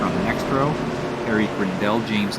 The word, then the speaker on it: Grindell: I want to say it's Grindell, Grindel. And as it rhymes with like Ricard Rydell, former touring car driver.